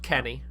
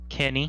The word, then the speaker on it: Kene: Kene Nwangwu. It's pronounced Kene. Kene.